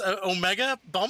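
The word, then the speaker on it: OmegaBump: Although I think you mispronounced my username. It's Omega bump.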